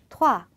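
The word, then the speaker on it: trois: 투 자 여기서도에 발음을 막 투화 이렇게 토할 거 같이 하실 필요는 없어요. 그냥 살짝만 토아라고 건드려 주시기만 하면 됩니다.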